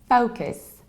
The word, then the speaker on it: focus: another fairly popular one it's not focus our focus but its focus so what happens we have not far but we have around it rounded first level it's foe like hoe like mow like so let go so focus focus and we have a